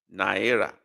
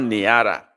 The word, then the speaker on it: naira: Nera, the same thing. I think the English and Hebrew version is the same. They sound alike. Nera, not Nara.